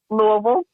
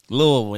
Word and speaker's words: Louisville: Louisville. Louisville, yeah, right?